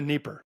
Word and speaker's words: Dnieper: across, is it the Dnieper? Did I pronounce that right? The Dnieper River? It's actually pronounced both ways, the Dnipro or the Dnieper.